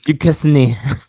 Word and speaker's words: Duquesne: Next we got BYU versus Duquesne. Duquesne. Yeah, thank I you. looked it up right before we started. Duquesne. Yeah, I was like, how are we going to pronounce this?